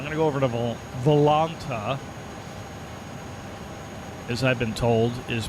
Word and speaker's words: Volanta: I'm going to go over to Volanta, as I've been told is pronounced.